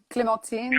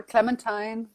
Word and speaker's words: Clementine: How is your name pronounced? Is it called Clementine? Sure, Clementine or Clementine, up to you.